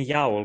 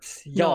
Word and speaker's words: y'all: It sounds like you're saying yowl, but y'all.